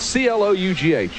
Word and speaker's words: Clough: Clough. Oh, I know, man. Clough. It's C-L-O-U-G-H. You would think Clough.